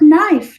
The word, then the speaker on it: knife: careful with that sharp knife don't cut yourself so no and knife also have the silent K now do you notice